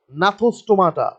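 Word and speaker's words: Gnathostomata: g first is g which is the silent g but the spelling is g n a t h o s t o m a t f t a which is natha stomata there is g is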